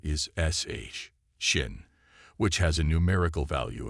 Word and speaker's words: Shin: or judgment in Aramaic this letter is written as and pronounced a shin the fifth letter is I Yad which has a numerical value of 10.